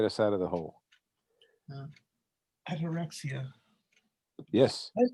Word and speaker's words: ataraxia: I have two words for 2021: ataraxia and compassion. That's the only two things that are going to get us out of the hole. Ataraxia.